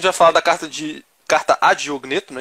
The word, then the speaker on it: Diogneto: seguinte, carta a, como é que pronuncia? Diogneto.